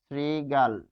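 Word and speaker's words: শৃগাল: যেমন স্ত্রী গাল স্ত্রী গাল এটির উচ্চারণ কি হবে? স্ত্রী শ্রীগাল হস চিহ্ন তাহলে শ্রীগাল হস চিহ্ন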